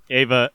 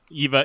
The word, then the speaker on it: Eva: that uh that uh ava eva and izzy came back i i'm pronouncing it i ever since lindsay started calling her ava i keep wanting to say ava for some reason uh eva and